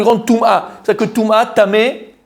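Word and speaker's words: טמא: C'est-à-dire que Touma, Tamé, il y a un Aleph à la fin, mais on ne le prononce pas.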